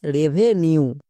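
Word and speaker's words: revenue: এন এর জন্য দন্তনু এবার ইউ ই এর জন্য ইউ সাউন্ড হবে তাহলে কি হবে রেভেনিউ কেন হচ্ছে বিকজ কোন শব্দ যদি ফাইভ লেটারের বেশি থাকে যেমন এখানে সাতটি আছে সেই শব্দে যেখানেই ইউ ই থাকুক তার জন্য ইউ সাউন্ড হবে উয়ে চেক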